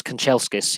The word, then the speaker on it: Kanchelskis: Andres Kanchelskis, yes, that's how you say his name.